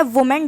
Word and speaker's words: women: Screen पे आपको दिख रहा होगा वी बोलना है, फिर मैन बोलना है, वी मैन। विमेन इसकी करेक्ट प्रोनाउंसिएशन होती है, और इसका स्पेलिंग जो भी है देख सकते हैं, WOMEN, इसका प्लूरल फॉर्म में स्पेलिंग ये हो जाती है। Pronunciation is very important, विमेन होता है, ना कि वुमेन या जो भी विमेन होता है।